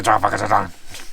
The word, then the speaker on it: Transfăgărășan: Actually, the Romanians pronounce it Transfăgărășan really fast. It's funny. Like a rifle.